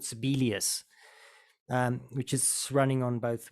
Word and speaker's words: Sibelius: own notation stuff, I use a program called Sibelius, which is running on both Windows and Mac format, and that's quite a good one. Sibelius, yeah. How do you spell that? SIB. Yeah. ELIUS. ELIUS. Sibelius.